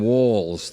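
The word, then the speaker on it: Walz's: the human voice so do we say Harris uh economic um plans policies do we we say walls military service I don't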